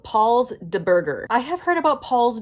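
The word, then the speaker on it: Paul's Da Burger: need to go to paul's de burger and yes it is spelled with a like with a d d a also side note all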